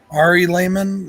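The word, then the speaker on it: Ari Lehman: this guy um what's his name Ari Layman Ari Layman yeah that's how you say it uh he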